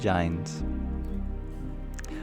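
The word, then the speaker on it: Jains: of Muslims Christians and giantes I always find that funny did you know that the the correct pronunciation of The Janes is giant I have a hard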